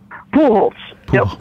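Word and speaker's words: Pujols: have said it wrong it's p it's phol po Hol pool okay the J is like an h and and so how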